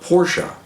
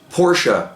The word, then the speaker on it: Porsche: Goonie Goo Goo, well, he says he's correcting me on my pronunciation of Porsche. Well, originally, if you watch some of my videos, you'll know that I referred to Porsche as Porsche. That's just the way I've always talked about. Well, along with that, he is going with the comment of pronounced Porsche, you hillbilly. If you're going to on a public forum and talk about Porsche as a so-called authority, then pronounce it correctly.